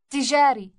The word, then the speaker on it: تجاري: تجاري. تجاري. Note the doubled or elongated T sound on its beginning.